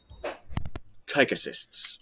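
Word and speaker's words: ptychocysts: And these groupings are called tychocysts with a silent P.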